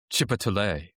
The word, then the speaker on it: Chipotle: asked if it's uh if the restaurant is pronounced Chipotle or Chipotle. And I told her I told her that it's Chipotle.